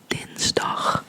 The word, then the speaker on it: dinsdag: Tuesday would translate to dinsdag. Dinsdag, dinsdag, dinsdag, dinsdag, dinsdag, dinsdag. Yeah, it just means Tuesday. I'm not gonna explain the word, but this is a short I sound, and instead of like, what's an I?